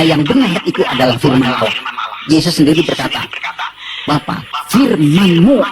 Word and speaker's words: Allah: aja tersinggung gitu ya kayak begitu ringan Git bacanya itu ringan tapi kalau mereka itu terpengaruh dengan bahasa Arab jadi enggak ringan Allah nah gitu nah dengan pengetahuan itu kita ngerti